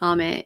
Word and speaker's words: ame: Ame, if you pronounce it Ame in Japanese, means rain.